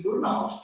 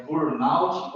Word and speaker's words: burnout: Então, por aí eu já entendo que a pronúncia é voltada para o inglês. Burnout, do inglês, e não burnout.